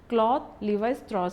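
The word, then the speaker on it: Claude Lévi-Strauss: He has to, this particular name has to be pronounced in this way only, Claude Levi-Strauss.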